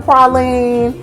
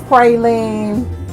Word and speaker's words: praline: you get your praline in the South they call it praline um you know closer up north it's praline whichever you prefer and how to pronounce it um you also get